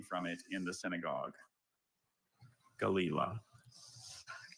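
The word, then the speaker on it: gelilah: Galila. Galila. G-A-L. E-I-L-A. Galila. I'm sorry, Galila is spelled G-E-L-I-L-A-H.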